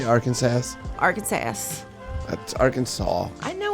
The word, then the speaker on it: Arkansas: Arkansas. Oh, I better say it right. Because there's a legal code in Arkansas that explains how the state's name should be correctly pronounced. Did you say Arkansas?